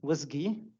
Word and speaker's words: WSGI: on the wsgi is pronounced WIS like whiskey but with a G uh it synchronously handles